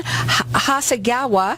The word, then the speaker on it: Hasegawa: I have with me Ian Hasegawa.